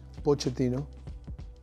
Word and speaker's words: Pochettino: No, so easy. Pochettino. There we go. Yes, Pochettino. Easy. And it's Italian name. Yeah. Of course, in Italia, it's Pochettino. I like more Pochettino.